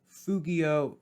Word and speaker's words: fugio: easy mistake to make like fugio that's another one that has a long first vowel it goes fugio fuguere with a long u and the only